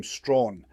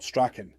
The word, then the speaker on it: Strachan: As a side note, we know Sir Richard pronounced his surname Strawn and not Strachen.